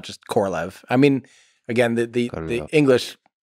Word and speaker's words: Korolev: how to pronounce Sergei Korolev's name. And I'm still going to say it wrong no matter what. My understanding, yes, and from listening to native speakers, is closer to Korolev than it is Korolev.